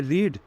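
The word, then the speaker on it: read: इसके बाद main verb यहाँ पे क्या है, मेन वर्ब यहाँ पे है रीड, उसका third form रीड, रेड, रेड, लेकिन स्पेलिंग सेम होती, तो ये हो गया रीड, या रेड बोल सकते हैं हम, ये हो गया रेड।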